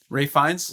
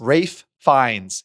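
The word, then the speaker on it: Ralph Fiennes: one of my favorite actors and I always mispronounce his name. Ray Fines. Rafe Fines. Yeah, Rafe Fines as um, Monser Gustav.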